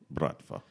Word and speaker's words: Bratva: brva days in the say it right brva brva bratva yes uh anyway it has